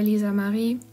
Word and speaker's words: Lisa Marie: it's ad art by lisa marie and yes i did pronounce my name in german because you know i'm from germany so why not um yeah